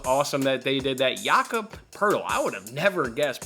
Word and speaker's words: Jakob Pertl: Jakob Pertl.